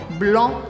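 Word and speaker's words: blanc: interessante que é broom blom se escreve um blog mas a gente não fala sc no final então vira brion blom esse som anasalado de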